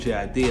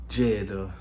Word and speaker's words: JID: Like, you know, you get like a little 8 bars, but you know JID, he's Jid. I don't know. I think he pronounces it Jid, but I call him JID.